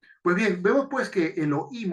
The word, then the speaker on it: Elohim: bien vemos pues que Elohim o Elohim que es como se pronuncia tiene varios usos el